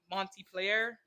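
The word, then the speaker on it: Montpelier: their their state capital mon Monty player player player is pronounced weird or it's it's it's French base which is always something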